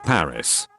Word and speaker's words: Paris: english they pronounce it paris but everyone else pronounces it without the s sound like the french do but with venetia everyone